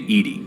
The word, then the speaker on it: EDI: Why are you named Edy? ED is the phonetic pronunciation of EDI.